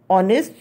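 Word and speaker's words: honest: ऑनेस्ट यहाँ पर क्या है, एच कॉन्सोनेंट है बट हम प्रोनाउंस कर रहे हैं साउंड ओ से आ रहा है, ये एच वर्ड साइलेंट है, then I use your N.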